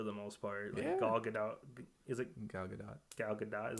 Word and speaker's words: Gal Gadot: Wonder Woman for the most part all get-out gal gadot is how you say it yeah actually saying it in my head I've always pronounced a good dough yeah cuz that's how